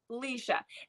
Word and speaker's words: Laoise: So this is about Leisha. And when you guys read the book, you're going to be like, what is this name? Because it's spelled Laoise. It is Irish Gaelic for Leisha, but her brother calls her Lily.